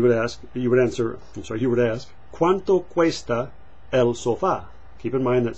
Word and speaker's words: sofá: You would ask, ¿Cuánto cuesta el sofá? Keep in mind that sofa is sofá in Spanish, the accent on the a, and it's masculine, el sofá, even though it ends in an a, oddly enough.